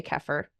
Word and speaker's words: kefir: is water I say kefir I know some people say keer what's I say kefir I don't know if I say it right yes I heard keer too great okay so what